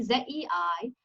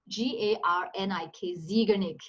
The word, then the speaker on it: Zeigarnik: Z-E-I-G-A-R-N-I-K, Zeigarnik. I think it's pronounced Zeigarnik because it's a Slavic language.